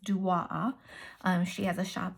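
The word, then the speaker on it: DOAA: from duwaaa inspiring designs it's spelled d-o-a-a but it's pronounced duo um she has a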